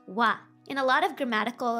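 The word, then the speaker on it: は: hiraagana for ha h a ha but it's pronounced wa in a lot of grammatical s context ha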